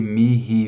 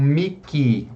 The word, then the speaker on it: mihi: Vade retro, Satana, nunquam suade mihi vana, sunt mala quelibas, ipse venena bibas. Bom, primeira coisa importante na palavra mihi. Algumas pessoas me perguntaram, mas eu escutei essa palavra como um miki, o H pronunciado com o som do K.